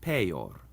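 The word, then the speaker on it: peior: Also, when the I is in between two other vowels later on in the word, it acts like a consonant too. So it's huius and peor.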